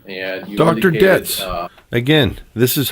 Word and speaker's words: Dietz: Detz's letter, and you Dr. indicated, Dietz.